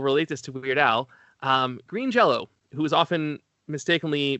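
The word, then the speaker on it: Green Jellÿ: any language, and so that's pronounced like an O according to them.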